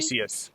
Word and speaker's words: Theseus: I think Lindsay mentioned this as we were kind of covering our story about the ship of the Theseus. Am I pronouncing that correctly? Theseus, yeah.